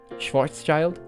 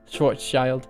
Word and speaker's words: Schwarzschild: of domain morphing that I invented let's see Schwartz child oh is that how it is pronounced sorry that sounds correct Schwarzschild yeah okay my bad one day one day